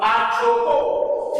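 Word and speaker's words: ἀνθρώπῳ: Genitive singular, anthropo. With the iota substance or the substance and the iota is silent.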